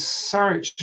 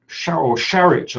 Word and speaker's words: Šarić: So this position is Saric against Malešauskas. Or Šarić, I've been told is the correct pronunciation.